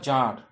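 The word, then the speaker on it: tsar: It once ochre to a certain জার, উচ্চারণটা জার, টি এর উচ্চারণটা সাইলেন্ট আছে দেখবে।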